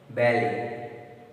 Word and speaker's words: ballet: Ballet, ballet, ballet. See, Lei, ballet. Pronunciation T is silent.